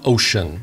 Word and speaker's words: Wouxun: soon wukson is pronounced ocean the w is silent and the x is pronounced so it's the ocean kg 1000 g radio